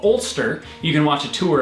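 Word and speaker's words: Alcester: the name of the town is that it's pronounced Ulster but when we went there we'd seen it on maps and everything and we arrived pronouncing it al Kester because it's spelled like this and that is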